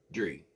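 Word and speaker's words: Guidry: Gri. That's how that pronounced.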